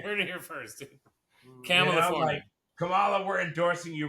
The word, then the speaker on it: Kamala: Kumay Nani Harris for I'll even say it the right way. Camala, right? Not Camela.